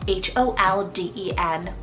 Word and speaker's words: Holden: so unexpected but it's the name Holden so h-o-l-d-e-n Holden there is something about this name but